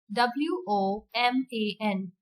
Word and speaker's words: woman: words and i will tell you how to pronounce them correctly word number one w-o-m-a-n woman say it with me woman woman s-t-o-m-a-c-h